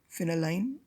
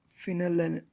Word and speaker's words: phenylalanine: methyl ester of the dye peptide derived from pheneline uh phenylalanine phenylalanine and sorry for the pronunciation and aspartic acid it is also known